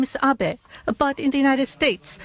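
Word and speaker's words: Abe: over to the White House my name is Abbot a but in the United States some people mistakenly pronounce my name is ape but that is not bad because even in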